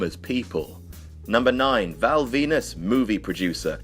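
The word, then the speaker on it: Venis: people number nine Val Venus movie producer Venus rhymes with penis do you get that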